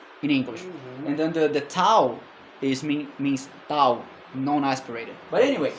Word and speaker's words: theta: Theta, yes. So theta in modern Greek is theta, but in ancient Greek is theta, which is a aspirated T, just like in a starting T in English.